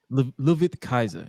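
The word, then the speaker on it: Ludwig Kaiser: on air is it leig it's laig Kaiser louid Kaiser yeah louid Kaiser okay that's like it spelled like Lil wig like like lwig or something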